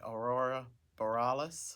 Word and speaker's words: Aurora Borealis: You want to pronounce that for me? Aurora Borealis.